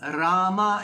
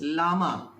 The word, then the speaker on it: Rama: They pronounce Rama as Lama.